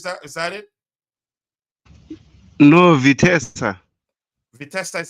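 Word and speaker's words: Vitesse: and him is that is that it no vitessa vesa is how you pronounce it okay when he return I don't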